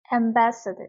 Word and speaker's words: ambassador: 자, 나라를 위해서 일하는 대사관에서 일하는 대사님들, 이 대사를 영어로 뭐라고 읽는지 한번 아리 학생이 읽어보겠습니다. ambassador, 네.